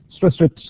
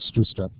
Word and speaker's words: Stroustrup: on to st's uh stress strips um it's it's a stress strip not strw STP if you want to